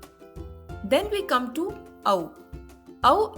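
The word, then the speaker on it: औ: Ow is pronounced as AU in the word out or cow.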